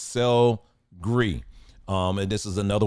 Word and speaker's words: sel gris: Also French gray sea salt, which is is actually pronounced sel gris.